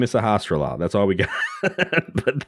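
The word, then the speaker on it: Sahasrahla: I was like, Sahasrara. Oh, okay. Yeah. So I mean, it's a lot of syllables, but they are, for the most part, pretty straightforward. Yeah, you can sound it out.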